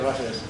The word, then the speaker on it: Roses: Roses, lo pronunciamos en español, entonces. Sí, Roses.